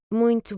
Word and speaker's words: Muito: bien, voilà, Muito bem. très bien. Donc là, encore comme la leçon d'hier, le U qui va se prononcer OU et le O final qui va se prononcer OU également.